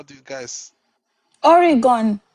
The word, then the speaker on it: Oregon: I, Oregon. How do you guys? Oregon.